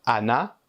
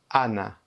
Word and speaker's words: Ana: N, c'est Anna. Et les deux A, au Portugal, on prononce E, N. Mais si vous allez au Brésil, c'est sûrement Ana.